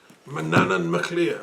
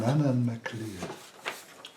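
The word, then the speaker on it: Manannán mac Lir: Manannan MacLear, we pronounce that. Manannan MacLear.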